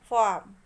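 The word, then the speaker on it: farm: फार्म में आर का pronunciation नहीं हो रहा है इसलिए आर लेटर साइलेंट है.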